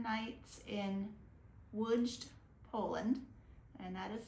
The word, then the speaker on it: Lodz: We just wrapped up 7 nights in Lodz, Poland, and that is spelled L-O-D-Z.